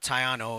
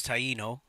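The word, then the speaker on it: Taíno: together all right uh it's not tayano it's Taino in case anybody gets confused like what's a tayano more people are more familiar with the traditional pronunciation of Taino okay uh he's gonna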